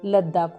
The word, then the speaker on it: लद्दाख: तिब्बत की कई बोलियों में इसका उच्चारण लद्दाख हुआ है।